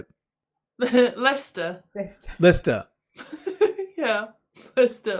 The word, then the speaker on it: Leicester: Lester, obviously. He's probably thinking, Why is there a C in there?